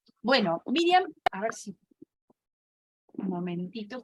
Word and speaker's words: Miriam: viene el nombre, pero son dos sílabas en hebreo, mir y yam. Bueno, Miriam, a ver si...